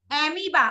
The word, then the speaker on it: amoeba: हाँ, AMOEBA, उसको ऐसे प्रोनाउंस करते हैं एमीबा। बोले स्पेलिंग उसका अलग है लेकिन इसकी प्रोनाउंसिएशन होगी एमीबा।